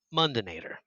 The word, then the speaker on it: Mundinator: and ever has been say it like terminator but mundinator my last name is